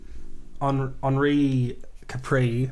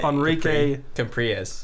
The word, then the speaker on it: Enrique Capriles: It's spelled Enrique Capriles, so I'm just Enrique? Yeah, Enrique. Enrique Capriles. Capriles. Yeah, that sounds better.